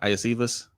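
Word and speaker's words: Iosivas: Iacevas?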